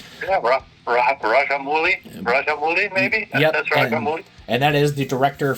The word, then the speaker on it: Rajamouli: Yep, that's Rajamouli.